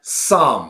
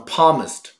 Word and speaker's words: Psalm: 一个 78 岁的天主教徒或者基督徒，连 Psalm 诗篇这么简单的一